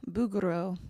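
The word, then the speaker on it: Bouguereau: Bugaro.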